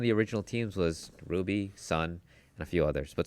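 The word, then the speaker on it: SSSN: him on Sun's team, which is pronounced because I've I've seen this this question go by lots of times. Say the team's name. Sun. Team Sun. Yeah. It's not season.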